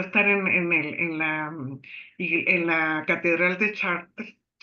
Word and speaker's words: Chartres: Me recuerdo en una ocasión que me tocó estar en la Catedral de Chartres, o Chartres, como se lee, pero se pronuncia Chartres, en Francia.